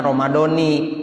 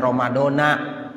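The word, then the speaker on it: Ramadhāni: Syahri Ramadoni lillahiala jadi bacanya Ramadani kenapa ya kan ISM girunsif Ramadan Iya benar ISM G msif tapi dia diidopatkan kepada lafaz hazii rad hadti ya makanya Bapak Ibu itu saya sampaikan di beberapa tempat semuanya kalau kita niat bacanya Nawa itu in anard Syahri Ramadoni Ha sanati jangan baca Ramadona ya jangan ramadon haz Sanah itu salah dari ilmu nahunya ya saya mungkin ya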